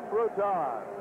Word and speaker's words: Bruton: is complete to Kim Bruton it is spelled b Ru t n and pronounced Bruton the hurricanes have the